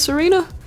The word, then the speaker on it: Tsareena: evolves into Sera Serena I know the te is silent so maybe it is Serena I don't know but